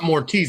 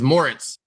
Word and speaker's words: Moritz: And it's not Mortiz, it's Moritz. Obviously mispronounced, but Moritz Wagner.